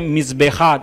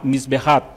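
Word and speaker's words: מזבח: un significado algunos rabinos la palabra hebrea es bueno se dice mis béjar mis viajar que significa altar y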